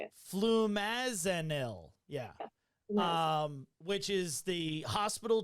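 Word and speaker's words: flumazenil: They ended up doing, what is it, the flumazeril or something? I know how to spell it. I don't know how to say it. Flumazanil.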